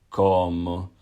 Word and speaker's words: como: verb, so I eat, comer becomes como, como. So it's the same thing, so you're just going to be pushing down on the second last syllable and coming up with the O sound afterwards.